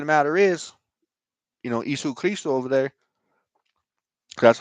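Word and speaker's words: Ἰησοῦς Χριστός: the truth of the matter is you know issue Christo over there that's how you say his name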